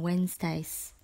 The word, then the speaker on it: Wednesday: with our cousins on Wednesdays be careful with the spelling of this word don't forget the silent letter D in Wednesday word number 23 is